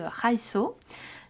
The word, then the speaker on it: Raido: rune on a la prononciation comment ça se prononce donc par exemple Raido on dit raiso nom de la lettre donc la lettre R